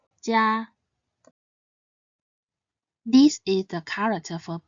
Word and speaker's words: 家: Its pinyin is spelled ji, ya, jia, and it should be pronounced in the first tone, jia, jia.